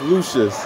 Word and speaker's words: Lucious: they very insecure most years things cover all pronounced like Lucius on Empire on the world okay it's lucious okay cool you're welcome as well we should